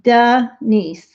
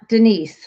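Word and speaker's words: Deniece: cancer uh denise herrera you spell her name d-e-n-i-e-c-e like duh nice not denise like we're used to she probably pronounces it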